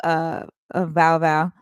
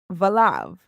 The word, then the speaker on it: Valav: Hey, TT, what's up, Val Val? Is it, hold on, I said it wrong. Valav. What's up, Chiquita Banana?